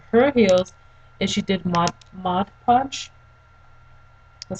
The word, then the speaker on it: Mod Podge: And what you can also do, what my friend said that she did to her heels, is she did Mod Podge.